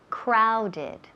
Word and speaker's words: crowded: Crowded. Crowded. Ese O suena como ow.